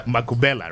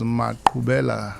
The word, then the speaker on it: Mubella: Uh Makubella, right? Well, uh, you're not far from it, but uh, I guess you don't eat some crocodile meat. I see. It is pronounced as Mubella. Mubella.